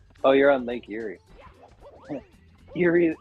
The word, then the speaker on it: Erie: Erie spelled like spooky Erie.